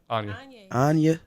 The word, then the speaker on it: Angier: just talk that once kanye anya oh you just take the k out pretty much oh [